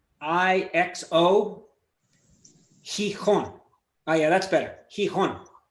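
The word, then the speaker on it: Gijón: Gijon. No, wrong. Gijon. It's even if I go with the Asturian one, which is X, I think it's Xixo. Gijon.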